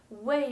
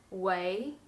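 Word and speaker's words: 为: what or why but when it means to become or to be it should be pronounced the second tone way as in this word chung way to become or lao wa you probably know this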